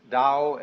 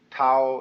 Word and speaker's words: Tao: called the dao tao pronounced dao in the mandarin dialect tao in the shanghai dialect toe in the cantonese dialect take your choice dao